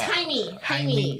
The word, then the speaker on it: Jaime: How do you say James in Spanish? Jaime? Hermes? No, it's Jaime.